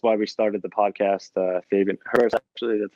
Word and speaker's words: Herbers: Fabian Herbers, actually, that's how you pronounce it.